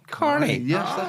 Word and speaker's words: Kearney: on oik was c so Rob Kernney the great rugby player was called Rob Carney that's how they pronounce his name we couldn't resolve